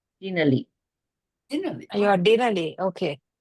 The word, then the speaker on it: Denali: So the emphasis is on the first syllable, so it's Denali.